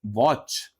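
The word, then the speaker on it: watch: लिस्टन आया क्या नहीं हम क्या बोल बोल रहे हैं लिसन विसल सेम यहां पे देखिए आप टी सीएच है पर यहां पे टी साइलेंट है क्या पढ़ेंगे आप वॉच आप इसको वॉच नहीं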